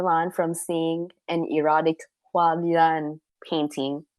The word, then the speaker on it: HuaLian: R: Yeah C: Okay, HuaLian, that's how you pronounce it. C: I just called it Hoolian.